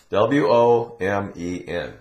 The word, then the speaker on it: women: Now, this letter, O, in this word, W-O-M-E-N, it's pronounced women.